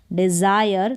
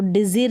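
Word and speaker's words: desire: आएगा ए करके नहीं डिजायर तो डाइजर नहीं पढ़ेंगे इसको डिजायर अब इसको भी एम्पीयर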